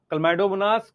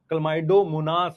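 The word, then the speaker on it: Chlamydomonas: Green algae में मेरे साथ बोलो, क्लैमाइडोमोनास, क्लोरेला, स्पाइरोगायरा, यूलोथ्रिक्स। मैं मतलब ये आपको श्योर बोल सकता हूं, बहुत सारे बच्चे इसको ठीक से प्रोनाउंस नहीं कर सकते। क्लमाइडोमोनास है, क्लमाइडोमोनास, क्लोरेला, स्पाइरोगायरा, यूलोथ्रिक्स, कारा, चारानी कारा, क्लैडोफोरा, वॉलवॉक्स, यूडोरीना।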